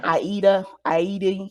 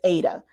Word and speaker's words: Ada: But they like to call her Aida, whatever. But her name is Ada. Even when she was born, her birth name is Ada, Ada, and she never pronounced it differently when she started performing and added the I.